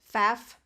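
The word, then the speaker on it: Pfaff: to pronounce that um I think the p is silent so would it be faf I don't know I'm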